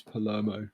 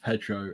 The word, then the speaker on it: Palermo: Just want to quickly say his name is Andrew Droz Palermo, not Pedro in any way, shape, or form.